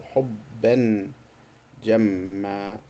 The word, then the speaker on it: حبا جما: However, if there was tanween with two fathas, they will stop by adding an alif. So this is how they used to pronounce. So حبا جما. They will not say حبا جم. That's why the alif is added.